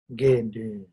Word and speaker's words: Gendun: Gendun. Okay, 2 syllables.